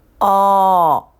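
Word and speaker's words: ㅓ: Eo. Eo. Yes. I did record it a bit long, but try making the sound thinking of a smaller circle mouth shape than Ah. Eo.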